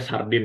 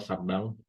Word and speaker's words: Chardin: Bacanya Sardin ya, dan untuk beberapa tahun saya masih menyebut itu Sardin gitu. Ternyata Sardang.